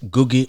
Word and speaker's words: Ngugi: Actually, is Ngugi Wationgo. Ngugi Wationgo. Yes. So we should have Ngugi coming up. So the N is silent.